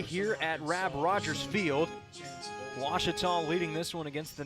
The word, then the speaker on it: Ouachita: Ouachita Sports digital Network I've heard people say oh a cheetah oh Wichita oh a cheetah is it pronounced oh Akita back in Texas everybody pronounces it Wichita how would you pronounce it it's Ouachita Baptist University get it right it's Ouachita people it's Ouachita wash your